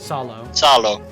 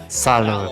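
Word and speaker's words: Salò: Salo. Salo Republic.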